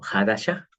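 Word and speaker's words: חדשה: que en realidad es una palabra que se pronuncia como Hadasha, el Brit Hadasha, y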